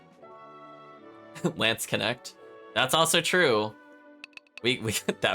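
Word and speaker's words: Landsknecht: Yeah, I think you do say the SK though. I'll do it one more time. Yeah, it's like Knesht. Yeah, it's like Lants is like how you would say it, and then Knesht.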